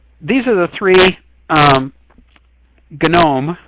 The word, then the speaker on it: GNOME: are the three um gnome with a hard g is one of the